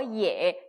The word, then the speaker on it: 也: Y랑 E가 합쳐졌어요. 어떻게 읽을까요? 어떻게 읽지? 이거 어야? 뭐야? 이렇게 헷갈리실 수가 있는데, 그죠? 예라고 읽습니다. 꼭 기억을 해주세요. 헷갈리지 마세요. 그죠? Y랑 E랑 붙었습니다. 예라고 읽으시면 돼요.